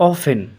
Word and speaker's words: often: Next word है ऑफन। इसमें जो है टी साइलेंट है। आप टी जो देख रहे हैं इसमें ऑफन में, इसको ऑफन पढ़ेंगे।